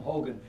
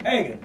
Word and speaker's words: Hagen: I always tell people I love playing Tom Hogan. He says Hagen. I always kid Hogan.